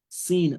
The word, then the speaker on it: س: So the learning of the tajweed makes you to know, oh, the sin is pronounced with the open mouth, and the sod is pronounced with a round mouth.